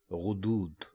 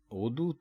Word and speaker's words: غدود: تو ان کو ہم میں سے اکثر لوگ غدود بولتے ہیں، یعنی وہ غین کے اوپر زبر لگا کر اس کو بولتے یا لکھتے ہیں، غدود کہتے ہیں.